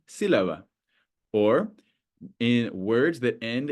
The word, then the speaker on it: sílaba: We know that the stress falls on the U in penúltima and on the I in sílaba because of the accent mark.